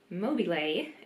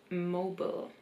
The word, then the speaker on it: mobile: Something I learned yesterday is that you actually don't pronounce it mobile in English, but mobile.